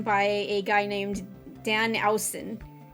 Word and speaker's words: Owsen: a guy named Dan Owsen. Owsen, I think it is. And I guess that's how you pronounce it, because that's how Heil kept pronouncing it. Owsen, like, ow! Like a clap chop, like, ow!